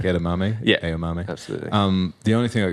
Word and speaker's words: Aomame: But that's how it's actually pronounced. Yeah, like edamame. Yeah. Aomame.